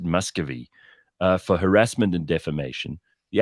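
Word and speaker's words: Miscavige: Church of Scientology David you spell it miscavage but people pronounce it Muscovy for harassment and defamation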